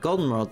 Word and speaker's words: Goldenrod: Goldenrod, the accent is on the O.